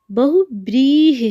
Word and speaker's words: बहुव्रीहि: number B की तो बहु बृही लिखा गया है जब कि गलत है बहुव्रीहि होता है ठीक अ उच्चारण से देख सकते बहु ब्रह ह पर हर उस की मात्रा आ रहा है ध्यान रखिएगा तो ऑप्शन नंबर देखते